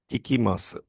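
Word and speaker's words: 聞きます: So the Japanese verb for music hearing is kikimasu.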